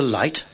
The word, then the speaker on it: light: İngilizce'de T'den önce gelen G, H harfleri okunmaz. Şu kelimeleri tekrarlayarak bu kuralı öğrenin. 8. Straight. Go straight on. Right. Good night. Have you got a light?